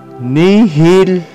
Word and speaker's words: nihil: Except for it is pronounced K in the two words nihil and mihi.